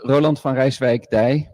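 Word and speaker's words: Roland van Rijswijk-Deij: So it's actually pronounced Roland van Rijswijk Day, but I'm not going to torture people and force them to do that.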